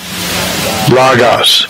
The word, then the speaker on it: logos: listen strong's g 3056 lagos logos see that so you can do that anytime you want to most most americans say logos okay but as low as lagos okay lagos now if you say